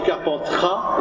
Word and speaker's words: Carpentras: Alors Père Léopold, il va aller à Avignon, c'est plus facile à prononcer que Carpentras, surtout que on dit Gigondas, mais on dit Carpentras, et pourtant il y a un S, donc je comprends très bien.